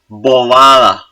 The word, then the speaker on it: bobada: The B should be soft too, because it's between vowels, it's in intervocalic position. What about the first B? No, the first B should be strong. Why? It's syllable initial before a vowel.